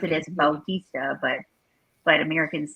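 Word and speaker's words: Bautista: it's still it's spelled b-a-u-t-i-s-d-a and then they pronounce it as baltista but but americans say it batista he no they did i think when he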